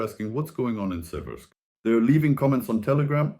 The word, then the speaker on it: Siversk: The city is Severk. The river is the Civki Donets. That's how it's spelled.